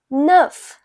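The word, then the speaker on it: neuf: So nine is pronounced as nerf.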